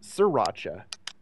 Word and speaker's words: Sriracha: one day is that you know I hear pronounced uh sriracha and I was like you know I completely